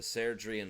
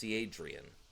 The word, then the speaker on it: Serdrian: Chapter 1, The Serdrian War. I used to think that was pronounced Seadrian.